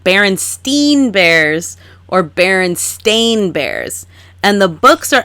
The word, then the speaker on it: Berenstain: Let me ask you, Kristen, how did you pronounce this? No. Yeah, I was in the Berenstein Bears. Berenstain Bears.